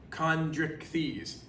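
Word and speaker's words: Chondrichthyes: to know that word chondric thies it's kind of said just like it's spelled so write that down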